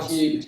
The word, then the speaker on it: Goebbels: colaborou com Hitler, Goebbels, né, quando É fala Goebbels. que aquela mentira, quando ela é pronunciada várias vezes, ela acaba Se tendo tornou um uma quê de verdade.